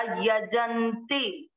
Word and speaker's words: यजन्ते: तीसरा चरण य ज पूरा आधा न, आधे अक्षर को पूरे के साथ पढ़ा, यजन्ते नाम म पूरा है, म में अ मिक्स करेंगे नाम।